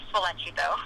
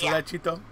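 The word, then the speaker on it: Sollecito: They also say like Solecito, and that drives me. It's Solecito.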